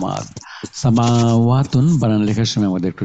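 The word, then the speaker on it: سماوات: দুটো মাদ আছে, মিমের উপরে একটা মাদ আছে, আর ওয়াইয়ের উপরে এখানে মাদ আছে। সামাওয়াতুন, জবরের পরে খালি আলিফ, জবরের পরে খালি আলিফ, দুটো মাদ। সামাওয়াতুন বানান লেখার সময় আমাদের একটু সাবধানে লেখা লাগবে।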